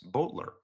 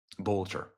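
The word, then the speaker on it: Boelter: Vance Bolter. Bolter. I'll say it correctly.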